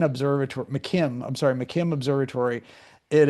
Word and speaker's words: McKim: So, look up Mckinn Observator. McKim, I'm sorry. McKim Observatory. It is adorable. Um so that's that's spelled M C I M K I M.